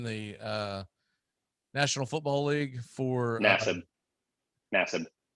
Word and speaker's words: Nassib: came out in the National Football League for Nassib. How does he pronounce it?